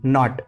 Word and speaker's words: knot: KNOT, नॉट।